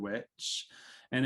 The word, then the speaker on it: Wicca: it is true and wicca which i point out at nauseum is pronounced witcha if you pronounce it correctly and it's just old english it's old english that's